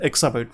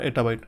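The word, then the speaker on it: exabyte: और वन one sorry sorry to से I have pronounce it incorrectly it इज एक्सा बाइट नॉट अ एटा बाइट ठीक है एक् बाइट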